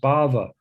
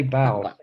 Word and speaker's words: bhava: I think it's Mother Kunamai, don't mind me saying, but it's actually pronounced Bhava. Bhava. You say bow. Bhava. Yeah. Bhava. Yeah.